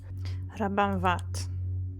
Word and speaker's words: Rabanvart: Rabanvat. So you don't pronounce the R, okay. I mean, the one in his surname.